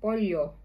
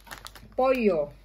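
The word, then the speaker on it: pollo: raw is chicken flavor polyo polyo ayan poyo Ayan ano lang tayo trivia mga kam mayora ang tamang pronunciation nito is yung L dito is binabasang y Ayan mga kam mayara mga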